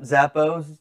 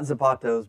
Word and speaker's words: Zappos: Yep, Zappos, not Zapatos, but good try.